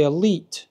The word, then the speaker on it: Elyte: could possibly argue that the elite as it's pronounced looks like Elite but it's to do with Eli Callaway being named after Eli Callaway so I think it